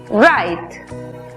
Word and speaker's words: right: En la palabra correcto, que se escribe, vemos que la GH es muda antes de T. La I toma su sonido abierto. Por lo tanto, la pronunciación es right.